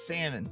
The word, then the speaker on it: salmon: I laugh how salmon is it's spelled salmon, but you know it's salmon.